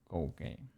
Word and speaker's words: Koukei: You will write it Cookie. Like cookie. But it is pronounced Koukei. How would you write Koukei without trolling?